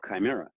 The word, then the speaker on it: Chimera: Just to round that out, manufacturers, as a matter of fact, Chimera, for example, K-Y-M-E-R-A, that is the phonetic spelling of Chimera.